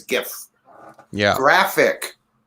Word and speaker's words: GIF: peanut butter it's a gif yeah graphic not yeah it's good hard g yes good gift gif i've always said jiff you gotta understand the